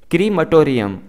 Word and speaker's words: crematorium: इसको हमने सही तरीके से प्रोनाउंस करना है, इसकी जो सही प्रोनंसिएशन है वो है क्रीमटोरियम, क्रीमटोरियम, इसको क्रीमेटोरियम नहीं बोलना है।